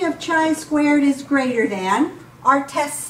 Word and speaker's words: chi-squared: P of chi-squared, that's how that's pronounced. It looks like x squared, but it is chi-squared.